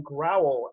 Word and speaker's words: Growel: Hi, I'm Jimmy Williams with Draft Diamonds, and today I have with me Justin Growel out of Lake Erie College.